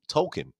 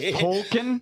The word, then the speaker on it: Tolkien: If you watch all those episodes before, they weren't saying Tolkien. They were saying Token.